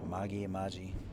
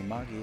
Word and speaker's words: Amagi: Amagi, do what you want. I think it's a hard G.